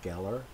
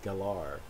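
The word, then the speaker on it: Gellar: called her sarah michelle geller when she was in buffy you know but it turns out that she pronounces her name galore not geller so i try to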